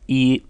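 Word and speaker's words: 一: the character for one which is naturally pronounced e the tone of this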